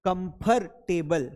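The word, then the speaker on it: comfortable: आप सबको पता है कि आर को उच्चारित नहीं किया जाता है। जितने भी इंग्लिश वाले लोग थे they never pronouns are. आर नहीं बोलना है।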